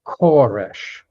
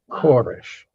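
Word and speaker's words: כורש: And by the way, Cyrus, it is actually pronounced Koresh. Koresh, but we anglicize it into Cyrus.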